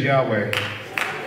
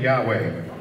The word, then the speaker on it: Yahweh: his name is yahweh at least that's the closest we can come to pronouncing it four hebrew counts and consonants that are soft um does not give you an ability to really pronounce his name so they borrowed uh